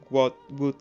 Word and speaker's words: would: Para esto vamos a utilizar la expresión would like, pronunciada would like. Fíjate que la L es muda, como en tantas otras palabras.